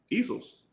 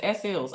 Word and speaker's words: Easels: You say it. Easels. Oh, I thought it was S-Ills.